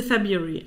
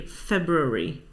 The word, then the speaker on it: February: Do you pronounce the first R in the second month of the year? Do you say February? Do you say February or February? I think I say February.